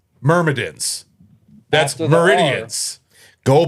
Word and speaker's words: Myrmidons: Meridians. Spin. Then how do you say it? Myrmidons. Not meridians. Myrmidons? There's a second M there.